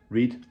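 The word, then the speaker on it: Rhyd: But then the man himself, Reid, I think you pronounce it as, Reid, R-H-Y-D, Welsh name I think, and he smoked a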